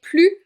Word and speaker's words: plus: On a bien un adverbe de quantité, mais je prononce pas le S parce qu'il y a un mot avec une consonne juste après.